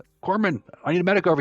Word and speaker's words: corpsman: it's Corman that's not corpse men the Marine Corps Esprit de corps you don't pronounce the P or even the S it's like c-o-r-e pronounced like it's like apple core Corman Corman I need a medic